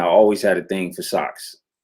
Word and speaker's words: SX: Socks. So SX is actually short for SOX, socks, right?